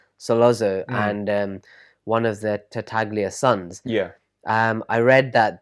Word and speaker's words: Tartaglia: Tartaglia, the Tartaglia family, you find that they're the kind of main people who are going to be going against the Corleone family.